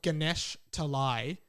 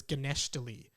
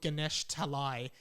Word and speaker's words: Ganesh Talai: that and finds his hometown which is called ganesh talai but when he was five he was pronouncing it as ganeshtali so he was always looking for ganeshtali but it's actually called ganesh talai and he sees it in the movie he's